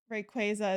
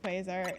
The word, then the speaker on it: Rayquaza: Rayquaza isn't Quaza.